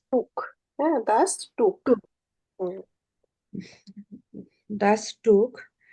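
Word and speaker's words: Tuch: দাস দাস টর্চ মাফটাকে toss বলবে না উচ্চারণ ভাবে টি ইউ সি এইচ টুক হ্যাঁ দাস টুক দাস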